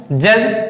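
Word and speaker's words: judge: Silent हो जाता है। तो देखें, एग्जाम्पल दिया है जज, देखो ये दिया जी और जी के पहले क्या है?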